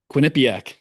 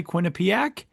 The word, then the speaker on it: Quinnipiac: Then from there, he grew up in Massachusetts, and then he went to Sam, you can help me pronounce this. Quinnipiac.